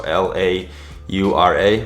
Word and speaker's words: Laura: So L-A-U-R-A, but the way Venezuelans pronounce it is Laura, which I think is very cool and very unique.